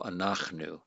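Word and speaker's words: אֲנַחְנוּ: a short a vowel so it's going to be a silent shawa so we're going to divide all right let me change my color we're going to divide here ah then and that's a syllable divider silent shawa by definition our we divide after it and then we have new this is just a consonant vowel so we have an open syllable a closed syllable and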